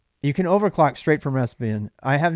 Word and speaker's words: Raspbian: The standard Raspberry Pi, Raspbian. Yeah. Raspbian. Raspbian, yeah. I spell it right.